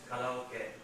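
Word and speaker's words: カラオケ: All right, let's hear an authentic Japanese pronunciation. Karaoke. Write it down, please, in phonetic symbols. Go on, again. Karaoke.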